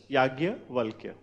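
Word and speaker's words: yajnya: v a l k yaj but you'll be pronouncing it is as yagya W then further write uh about the marriages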